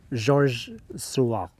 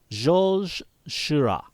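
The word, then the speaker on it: Georges Seurat: sunday afternoon on the island of lagrangiate by georges sorswa i'm probably pronouncing that wrong let's let's do a voiceover this is how it's this is how it's actually pronounced jolzhira ah see there you go that's the way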